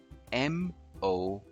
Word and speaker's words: morale: Finally, this word, spelled M-O-R-A-L-E, is pronounced as morale. Morale.